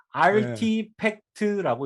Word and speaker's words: RTFKT: 이게~ 알티팩트 라고 읽는데요 아트팩트 그렇게 읽을 수 있나?